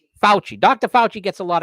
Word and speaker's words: Fauci: What's the pronunciation? Fauci.